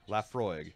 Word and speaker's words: Laphroaig: 10,000 years laughs rogue Laphroaig Laphroaig is how you pronounce it holy